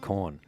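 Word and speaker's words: Quorn: Brooke went on to explain that in some parts of Europe, they eat a lot of corn. That's spelled Q-U-O-R-N.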